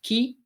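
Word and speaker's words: 鬼: hyen period and the Ki for Oni can also be pronounced in various other ways it can be pronounced as key if used in other words such as the hiaki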